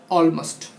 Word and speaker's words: almost: लेकिन हाँ, जब उसमें प्रेफिक्स लगा रहे, जैसे ऑलमोस्ट, ALMOST, तो इसको ऑलमोस्ट पढ़ेंगे, AL को उच्चारण में लाएंगे, ऑलमाइटी में AL को उच्चारण में लाएंगे।